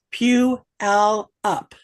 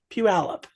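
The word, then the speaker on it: Puyallup: the state fair and peup that's how it's pronounced Pew alup PE alup good morning Terry welcome welcome welcome glad to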